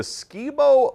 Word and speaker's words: Skibo: He says the Skibo Lookout outside Hoyt Lakes. He told me Hunter knows where it is. Yeah, it's actually, I think it's pronounced Skybo.